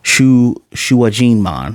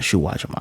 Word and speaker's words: Shuajinmon: Shuajinmon, not Shuwajamon.